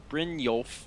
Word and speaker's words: Brynjolf: And I remember I was on my way with Brynjolf, which you guys have told me is correct pronunciation.